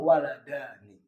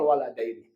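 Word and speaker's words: الولدان: mussanna Alif ya ya maka bacanya umirol waladani bukan umiral waladaini bukan kalau yang baca umiral waladaini salah yang ketiga umiral muslimuna telah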